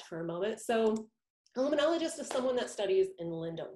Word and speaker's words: limnologist: Well, a limnologist, that's how you pronounce it, a limnologist.